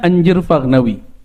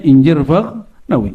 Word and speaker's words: Injir Fagnawi: Jangan dibaca anjir ya. Bacanya apa? Ini Buya Aswi itu canda waktu kita ziarah ini salah-salah baca gawat nih buya katanya. Apaan nih gawat ini? Kalau orang Betawi baca jadi anjir, Paknawi kan lucu. Tapi orang Arab biasanya bacanya Anjir Fagnawi. Kalau orang Uzbek bacanya Injir Fagnawi.